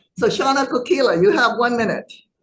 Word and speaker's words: Shana: I see Shaya Kil shaana I apologize for mispronouncing your name so shaana Kila you have one minute Mahala chair no